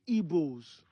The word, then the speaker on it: Igbo: Direct pronunciation of Igbo. That's how I pronounce Igbo.